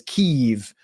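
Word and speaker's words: Kyiv: a subway station in Kiev, which you have to now refer to as Keev because you have to use the Ukrainian pronunciation of everything, which even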